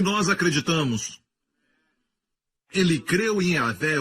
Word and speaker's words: Yahweh: Yud, Rei, Vav, Rei. Se pronuncia como Yahvé.